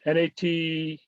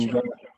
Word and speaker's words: Natchaug: I always have trouble pronouncing it. Natchaug, Natchug Epic. And Natchug. Yeah. it's like a sneeze.